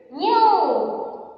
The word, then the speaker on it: knew: New. KNEW. New. K silent and all of you.